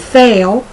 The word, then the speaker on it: fail: So the difference between the short E and the long A in the words fell, F-E-L-L, I fell down the steps, and fail, I failed 4th grade, or I will fail 4th grade, it's so close that sometimes I wonder if I even say the difference.